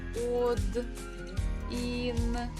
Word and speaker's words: один: So the stress actually falls on E, and O is unstressed, so we pronounce it as letter A. But we have to spell it while we're writing with O. But just reading with A.